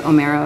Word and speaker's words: Omero: odyssey and the iliad because omero is how you say homer in italian and then they i